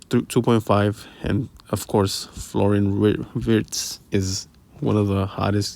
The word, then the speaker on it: Wirtz: As you guys see right here, one of the hottest ones, Wirtz, however they said Wirtz. I pronounced with the V.